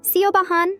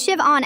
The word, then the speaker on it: Siobhan: "See-o-ba-han?" she said, really dragging out every single letter like she was reading it off a cereal box. I raised my hand. "It's Shiv-on, actually. The H is silent."